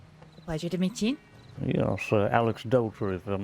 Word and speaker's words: Aleksdóttir: Yes, Aleksdóttir, if I'm not mistaken. Is that how you pronounce it?